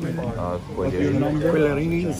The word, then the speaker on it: Quillerini: Do we pronounce the French tone? Quillerini. Like in Italian.